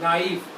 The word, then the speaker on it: knife: अब इसमें K जो होता है ना वो साइलेंट होता है, साइलेंट मतलब इसकी आवाज नहीं आ रही, नाइफ, इसको हिंदी में ऐसे लिखे नाइफ बोलते हैं, नाइफ, ठीक है।